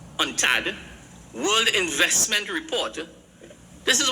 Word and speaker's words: UNCTAD: But in 2021, a UNCTAD, which is, it's pronounced UNTAD, World Investment Report, this